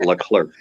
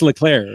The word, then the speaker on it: Leclaire: name correctly derek uh usually i get la clerk le clark yeah clerk yeah yeah it's leclaire right so yeah any any